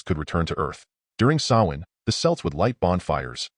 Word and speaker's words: Samhain: The origins of Halloween date back over 2,000 years to the ancient Celtic festival of Samhain, pronounced Samhain.